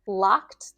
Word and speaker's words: locked: Now the t sound for the ed ending. Locked the door. Locked the door. Again, think t. Make sure you know it's not locked. Locked, right? That's incorrect.